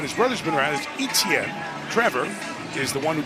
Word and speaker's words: Etienne: Travis Etienne, which is been pronounced when of brother's been around as Etienne.